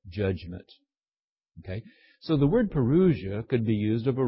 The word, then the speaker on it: parousia: It's spelled P-A-R-O-U-S-I-A, parousia, was a technical term for a visit